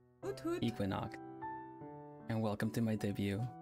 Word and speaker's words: Equinnox: Equinnox. And welcome to my debut. That's how you pronounce it.